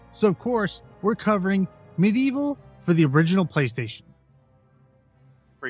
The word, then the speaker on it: MediEvil: For you at home, it's MediEvil. It's not Medieval Total War, just so you know. That's a good point, and I always struggle with the name of this game because it's spelled Medieval, all one word.